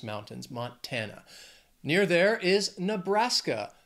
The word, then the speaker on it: Nebraska: Near there is Nebraska. Three syllables, stress is also on that second syllable. Nebraska. Nebraska.